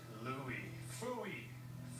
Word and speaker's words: Lou: Louie, fooey. There's a reason Cory rhymes with glory, and Lou rhymes with number two.